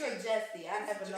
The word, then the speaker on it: Jussie: Is it Jussie or Jessie? I never know. It's Jussie, but it's spelled like Jussie.